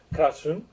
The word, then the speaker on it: Crăciun: I'm really happy to welcome and introduce Magdalena Crăciun, which I just finally learned how to pronounce, although I know Magdalena Magda for many